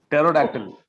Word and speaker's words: pterodactyl: Pterodactyl. Because the P is silent, so it doesn't have anything.